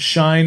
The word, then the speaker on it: SHEIN: I don't know, but I would say that Shine is definitely the way that Americans are going to pronounce it. Yeah, probably. Shen sounds more Chinese than Shine. Yeah. I would call it Shin.